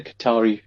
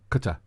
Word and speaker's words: Qatar: I can imagine the Qatari at the airport.